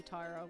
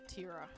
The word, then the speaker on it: Tyra: But yeah, Tyra will always be Tyra with the long I. Not Tira.